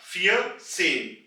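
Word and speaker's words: vierzehn: इसी रूल के मुताबिक 14 यानी कि 14 बन जाएगा फियर सेन। यहां भी आप नोट करें, पहले हमने आवाज निकाली है फियर, और फिर उसमें हमने सेन की आवाज ऐड कर दी है, फियर सेन।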